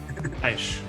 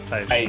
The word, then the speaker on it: Teich: Correct me on the pronunciation. Teich. Teich.